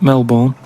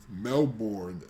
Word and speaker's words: Melbourne: Nick, who's emailed from Australia, right, Melbourne, he's been going on about dolphins and that, problems with dolphins. Melbourne.